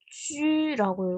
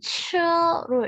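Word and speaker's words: 車: 요거는 술의 거로 읽을 때는 쥐라고 읽고 차라고 읽을 때는 츠로 읽게 되는데요.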